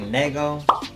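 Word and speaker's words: Nëgo: Is supposed to be pronounced like Nego. It was like N-E with the 2 dots, G-O.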